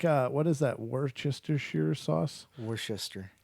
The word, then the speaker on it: Worcester: Worcester. See, how do you get Schuster out of all those letters?